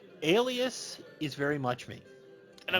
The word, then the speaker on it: Alias: would move away alias is very much me and i'm glad you said alias not only i'm not elias thank you thank you